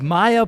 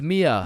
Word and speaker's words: Mia: Wait, what the Is is Maya present? Uh, it's it's Mia.